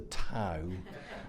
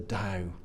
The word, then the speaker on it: Dao: until after I had given a presentation pronouncing this the Tao for a very nice very polite Chinese gentleman to come up to me at the end and to disabuse me of this notion that it was that the time and to to say it it's the DAO it's the dialogue and